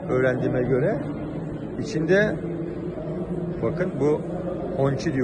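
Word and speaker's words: Hongqi: İçinde bakın bu Honchi diye okunuyor.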